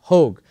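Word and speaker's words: HÅG: by a company called hog it's spelled h a but I believe it's Swedish and in Sweden it's pronounced hog and this is now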